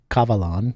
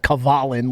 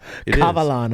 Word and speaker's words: Kavalan: me how to pronounce Kavalan, because I was calling it Kavalin like a New Englander in the beginning.